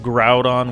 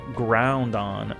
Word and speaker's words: Groudon: Used to pronounce Groudon wrong too. Would always call it Groundon.